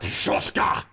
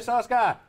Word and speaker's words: Soska: Hey, we got Shushka! That's the only person who knows how to say her last name properly. You're welcome. Thank you. We got Jen and Sylvia Shushka, and they have the Hellevator.